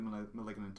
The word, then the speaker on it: Malignant: Maybe that'll be the Malignant of the year. What the hell? How do you pronounce that film's name? Malignant. It's like Maleficent.